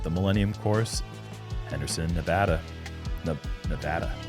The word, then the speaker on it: Nevada: Nevada. Said it right. Nevada.